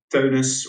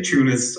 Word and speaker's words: Teunuss: I play under the screen name Teunuss, or most Americans say Teunuss, I guess.